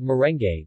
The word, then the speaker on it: merengue: the Spanish influence but they are called merengue with all the vowels pronounced leche flan is a